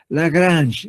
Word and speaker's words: Lagrange: Lagrange, así, Lagrange. Lagrange, así. O sea, eso no hay mucho problema, pues la forma de pronunciar de los franceses, ¿sí?